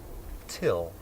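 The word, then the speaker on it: Thgil: my name is till it's spelled t h g i l but it's pronounced till well my name is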